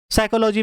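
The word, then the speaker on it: psychology: साइकोलॉजी में P silent होता है।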